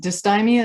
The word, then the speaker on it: dysthymia: So when you were diagnosed with dysthymia, is that how you pronounce it?